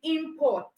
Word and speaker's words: import: the correct pronunciation of the verb form, which is import. So if you are pronouncing import, okay, you are pronouncing import, which is noun, it means you are going to get it wrong, because when you own that word, you're probably going to put your stress on the first syllable, whereas it's supposed to be on the second syllable.